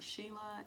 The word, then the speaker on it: Sheila: Lea she Leia no it's just like two syllables one two she loved she loved okay join Instagram is Sheila and this hu